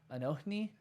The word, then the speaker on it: Anohni: Anohni? Anohni.